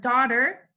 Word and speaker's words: daughter: Daughter, silent letter, silent consonants here in the word daughter. Daughter is GH, and then brought, silent letter or silent consonants would also be GH for here.